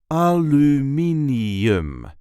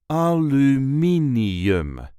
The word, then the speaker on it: aluminium: Aluminium. There is a light emphasis on the third syllable. Aluminium. A l me n aluminum. Aluminium.